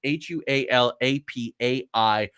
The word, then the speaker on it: Hualapai: Now, that's spelled Hualapai, but it's Hualapai.